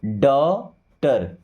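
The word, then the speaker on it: daughter: और टी से ट साइलेंट हो गया। यहां पे डॉटर।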